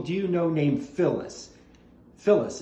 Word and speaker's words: Phyllis: Phyllis. It's spelled P-H-Y-L-L-I-S. Phyllis, not with an F, but with a P-H.